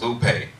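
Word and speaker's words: λύπη: which was 3077 and it's pronounced Lupe properly this distress fixation physical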